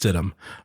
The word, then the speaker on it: Stidham: Stidham, like the meat, but it is pronounced Stidham.